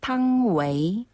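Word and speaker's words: 汤唯: 분당댁 아 이사 같다고 하는데 탕웨이 아 중국 발음으로는 탕웨이 탕웨이 탕웨이 자 이름도 예뻐요네 자 그런데 중국에서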